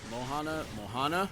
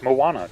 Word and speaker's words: Moana: Mohana? Wow, alright. What? Don't worry about it. Hey, Why kill would you stealers! why would you say Trevor's name wrong? It's Moana.